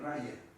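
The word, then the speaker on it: Raja: aparece como yoga el Raya que se escribe con j pero se pronuncia como una y raya yoga Pero antes que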